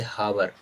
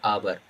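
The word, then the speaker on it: hour: जैसे यहाँ लिखा आवर, लिखा ये लिखा आवर, और इसको कुछ लोग क्या पढ़ देते, हावर, हा पढ़ने के कारण अ यूज कर देते, अहावर, बट ये गलत है।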